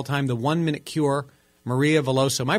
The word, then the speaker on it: Maria Veloso: books of all time the one minute cure Maria veloso am I pronouncing your name corre correctly Maria yes you